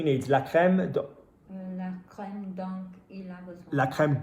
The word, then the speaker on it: dont: Je sais ce dont il a besoin. Are we saying donc or don? Dont. That's it.